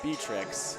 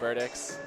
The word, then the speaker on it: Verdick: quick correction I think I've been uh saying berrix for uh Abby uh verx it's actually pronounced verdick sorry about that I'll